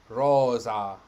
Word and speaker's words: rosa: that is just wrong interval s is pronounced as z so rosa rose and jesus so it